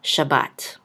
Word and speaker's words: Shabbat: shin with a patach, which says sha, and a bet with a kamatz, which says ba, and this syllable will be closed out with a tav, so we'll say bat. So Shabbat. Okay.